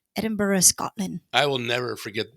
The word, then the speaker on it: Edinburgh: And he always, when he pronounced Edinburgh, the Japanese way to say Edinburgh is Ejimbara.